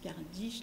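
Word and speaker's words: kardeş: petit frère c'est Cardi ça se prononce car dich la grande soeur c'est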